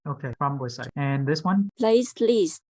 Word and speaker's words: platelet: Platelets. No. So pronounce plate.